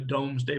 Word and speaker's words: Domesday: main textbook this is what's known as the doomsday book or the Domesday book everyone to pronounce